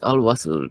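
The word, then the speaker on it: Al Wasl: It's called as Al Wassel Road.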